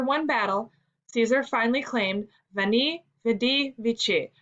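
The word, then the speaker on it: veni, vidi, vici: battle caesar finally claimed vani vedi vichy pronounced in caesar's day as we knee we di meaning in latin i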